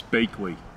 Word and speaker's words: Baechle: last name which I would like him to pronounce it it's bakeway oh yes but but you don't spell it that way yeah that is what it is so Randy bakeley yes that's beautiful and you spell it b